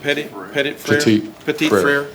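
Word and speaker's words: Petit-Frere: Petit Frere.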